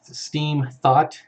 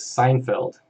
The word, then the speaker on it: Steenfott: Steenfott. The worst I've seen it pronounced is Seinfeld. Someone actually called me Seinfeld.